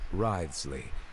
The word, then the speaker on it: Wriothesley: I mentioned that I have had personal dealings with the administrator of the fortress, Wriothesley.